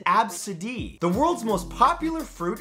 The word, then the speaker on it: ABCDE: The name is pronounced Absidee.